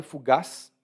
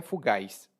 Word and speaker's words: fugaz: Eu falei fugaz porque essa é uma pronúncia, outra pronúncia é fugaz, que essa é a minha pronúncia.